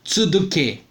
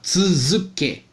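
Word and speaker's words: つづけ: Outra coisa, não se lê Du, não se lê Du, se lê Z, tá? Não se lê Z. Você não vai falar, quando você vai falar a palavra ainda continua, Mada Tsuduke. Não, você vai falar Tsuzuke, tá?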